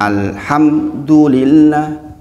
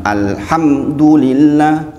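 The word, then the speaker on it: الحمد لله: enggak boleh ng misalnya Alhamdulillah itu keliru harusnya adalah Alhamdulillah bukan Alhamdulillah bukan Alhamdulillah yang benar adalah Alhamdulillah cara dipahami nah ini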